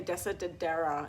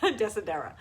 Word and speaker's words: Desidera: destera de sedera and i used to say dessa de dera you know it's like i added like an extra syllable in there desidera it's uh d-e-s-i-d-e-r-a from